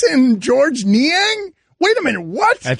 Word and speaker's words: Georges Niang: ni a you're wrong George nian GES and IA ng George man you forgot about the silent s there was a silence s in Georges Niang wait a minute what's